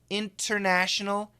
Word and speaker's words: international: International, perfect pronunciation. If we say it fast, the T is canceled, international.